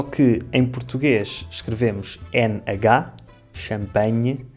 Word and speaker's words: champanhe: No fundo, é a mesma palavra em ambas as línguas e em ambas se pronuncia nhe, só que em português escrevemos NH, champanhe, e em francês eles escrevem GN, champagne.